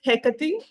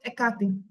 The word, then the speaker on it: Hecate: Witchcraft that everyone asks me about and that's hecky hey yes and we call it ATI ATI ATI ATI yes okay I love her